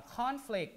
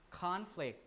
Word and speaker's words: conflict: pass it out uh conflict could be a noun and a verb right so um the pronunciation might be different conflict is a noun conflict is a verb but still there are two syllables regardless of whether it's a noun or verb conflict oops conflict does